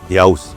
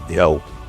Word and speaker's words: Dyáus: heaven and earth pair) At certain points I pronounce “Dyáus” as “Dyau” — a softened form reflecting natural spoken rendering outside strict Vedic recitation – so please bear with that.